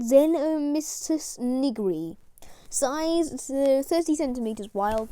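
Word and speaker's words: Xenomystus nigri: zen and mr sniggery pronunciation zeno mysticism nigri size is 30 centimeters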